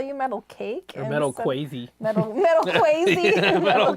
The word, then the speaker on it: Metal KZ: So, Metal KZ says, I'm going to pronounce it for you. So he spelled it out, Metal KZ. Metal case. He's Dutch. Oh, So I have to think of Metal Cake.